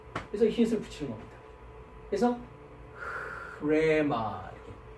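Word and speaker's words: ῥῆμα: 앞에 히읗을 붙인다. 이 히읗이라는 거는 목구멍 소리라고 합니다. 어디에서 나오는 소리냐? 목에서 나오는 소리란 말이죠. 그러니까 해보십시오. 그죠? 그러니까 계속 되죠, 그죠? 그래서 히읗을 붙이는 겁니다. 그래서 흐레마 이렇게 흐레마라고 발음을 합니다.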